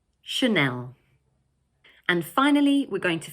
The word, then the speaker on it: Chanel: This word has 2 syllables, Chanel, and the second one is stressed. So in English, we pronounce it Chanel. Chanel.